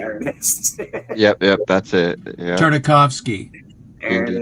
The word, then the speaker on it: Tartakovsky: Tartakovsky. Andy Tartakovsky. Yeah, very difficult to pronounce.